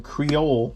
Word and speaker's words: Creole: spicy and also some creole seasoning that's from louisiana you pronounce it creole the e at the end is silent so creole seasoning to